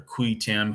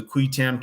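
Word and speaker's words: qui tam: again and it's going to be considered a kui tam case I'm not going to go into the cuetam case for you um you can look it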